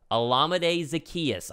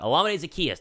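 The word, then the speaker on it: Olamide Zaccheaus: addition that's his name I can't oh yeah olamide Zacchaeus I only know that because I live in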